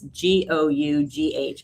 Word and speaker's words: Gough: By the way, it's Gough.